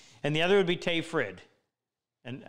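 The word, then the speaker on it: Tage Frid: the other would be tay frid and how that name gets butchered so bad t-a-g-e last name f-r-i-d tay frid that's how you pronounce it i spent some time with him in the summer of 87.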